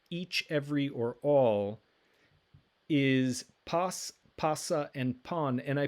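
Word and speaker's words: πᾶς: dictionary form for each every or all is pas pasa and pon and i put all three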